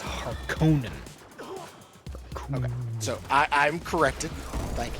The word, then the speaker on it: Harkonnen: It kind of bothered me in the recent movie how they were pronouncing it Harkonnen. So it's not Harkin, it's Harkonnen.